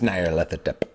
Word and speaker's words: Nyarlathotep: No, it's Nyarlathotep. Stop it. Okay, I got it. good. I got it. It's Nyarlathotep. I listened to the pronunciation on Google Pronunciation. It told me.